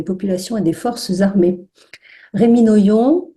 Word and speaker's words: Rémi Noyon: Rémi Noyon, j'espère que je prononce bien votre nom, Rémi. Oui, non, ouais, c'est ça.